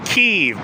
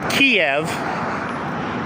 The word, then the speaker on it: Kyiv: I am in Kev, but it's KY Y. It's not Kiev. Kiev is the Russian pronunciation, the colonizers name for this city.